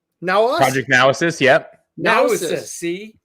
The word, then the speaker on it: Naosis: You said it wrong. Naosis.